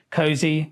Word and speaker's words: KOSI: Cozy. Yes. We were trying to work out what to come up with and then Ko Ko nil. Yeah. Si Cozy.